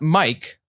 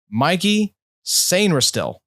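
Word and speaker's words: Mike Sainristil: because it is not Mike, according to Dane. It is Mikey. Mikey Sainristil is how you pronounce this, apparently, which I did not realize. I did not know Mike could be pronounced Mikey, but here we are.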